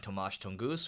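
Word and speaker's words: Tomasz Tunguz: a blog post from a venture capitalist named tomasz tongoos who we've actually had on the leveling up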